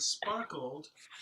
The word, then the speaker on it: sparkled: section is that the word sparkled is problematic because when we speak it, we're lazy about it, and we do that LED, sparkled, is like not really an additional syllable, but just like kind of an ending consonant to spark, sparkled.